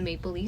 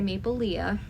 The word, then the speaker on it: Maplelea: every day on the maple Lea site that's spelled um Maple l e a a lot of people say Maple Leah but it is maple Le I heard it from